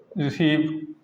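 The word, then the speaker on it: receive: Example देख लो, रिसीव, है ना, इसमें स्पेलिंग ही गलत कर दी आपने, ई और आई, आई ई होता है इसमें रिसीव।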